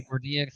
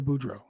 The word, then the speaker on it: Boudreaux: I've been calling Parker for DX this whole time. How you say his name? Parker Boudreaux.